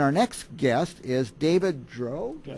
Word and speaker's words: Drow: And our next guest is David Drow.